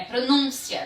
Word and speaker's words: pronúncia: ser ali no mundo não pode ser no pronto pode ser pronúncia nem pronuncia é pronúncia né e em gramática